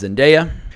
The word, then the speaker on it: Zendaya: Tom Holland and also I checked online that is the correct pronunciation I've been Connor is in daya for years but her name is zendaya but they really shine